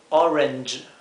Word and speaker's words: Orange: es Orange Orange y fíjense que la G con la e produce este sonido que no existe en el español que es J J entonces decimos Orange Orange para uvas tenemos grapes